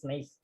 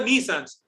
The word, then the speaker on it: Nice: after a european city often people mispronounce it assuming it to be named after a common adjective which biscuit made by